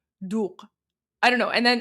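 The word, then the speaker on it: دوغ: It's pronounced duke. I don't know. And then and then the last letter at the end is a letter that you actually can't pronounce in English cuz because there's no English version of of duk.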